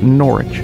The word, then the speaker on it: Norwich: just learned yesterday that you don't pronounce the W Norwich an R which is